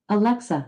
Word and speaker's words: Alexa: i said legend alexa i pronounce alexa alexa i said legendary stress is on the middle syllable alexa play lovely day